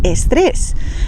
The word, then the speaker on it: estrés: D y G y la letra S al principio de palabra sin una vocal delante.